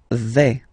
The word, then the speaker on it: vais: Okay, so remember, final S not pronounced here. Je vais. Okay, when you combine this A-I, you get the sound E, really open.